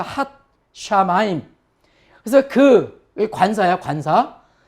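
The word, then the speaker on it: הַשָּׁמַיִם: 그 다음에 여기 경강점이라 그랬죠. 이중점. 시읒이 두 개라 그랬죠. 그래서 핫 샤마임.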